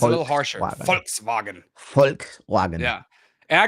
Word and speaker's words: Volkswagen: pronounce those words accordingly but it's Volkswagen or f um Volkswagen is pretty much folk is the peoplek and vagon is the wagon so it's the people's wagon so folks like folks yeah like folks it's